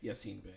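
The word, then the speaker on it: Yasiin Bey: Yassine Bey.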